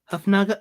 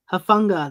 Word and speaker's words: Hufanga: Hufnaga. No, I did it again. Oh, how do you say his name? Hufanga.